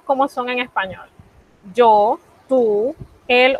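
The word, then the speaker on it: tu: como nosotros la pronunciamos hay que pronunciarla como si fuésemos a decir una y y con la boca mucho más cerrada y eso como suena suena y entonces si dijéramos tú dije que tendríamos que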